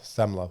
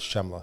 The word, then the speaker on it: Scemla: But depending on what part of the world you're from, you're going to pronounce my name differently. But if you're Italian, which half of my family is Italian Jews, it's Semla Sidency. Um, other parts of the world is Shemla.